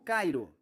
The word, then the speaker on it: Cairo: o chamaram de Cairo, que me disseram que os moradores locais pronunciam como Cairo.